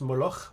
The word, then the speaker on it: Moloch: films il y avait molor c'est ce prononce Moller parce que c'est un film hollandais qui s'appelle le sacrifice aussi